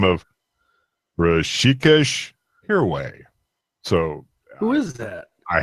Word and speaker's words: Rishikesh Hirway: It's Rishikesh Hirway. How do you spell that?